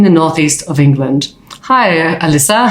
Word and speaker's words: Alyssa: Dance Company in the northeast of England hi Alyssa how are you hi I'm good thank you